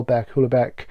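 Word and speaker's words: Houellebecq: to read um well bear cooler Beck is what I call him well because this is the proper pronunciation submission the current French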